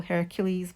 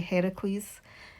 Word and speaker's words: Heracles: So Heracles, people sort of confuse and they call Hercules, but it's actually Heracles is the correct pronunciation.